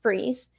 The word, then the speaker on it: Fries: so uh Victor freeze it's spelled out as fries but it's uh pronounced freeze um had a hobby